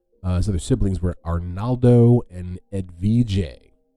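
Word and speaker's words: Edvige: siblings were Arnaldo and Ed Vijay which I'm guessing is more like you know um it's spelled e-d-v-i-g-e which is this American Mouth just gives Ed Vijay you know as a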